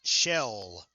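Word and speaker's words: Schell: down at six Greg shell on the tackle the C is silent according to our roster hand off goes to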